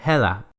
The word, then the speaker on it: hedder: Pero en el danés, si tenemos esta palabra que es la conjugación en presente de llamarse, la D se suaviza a una especie de L y se pronuncia heda.